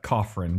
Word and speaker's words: Coughran: pronounce it it's uh cofferin just like it's spelled okay great Kaufman I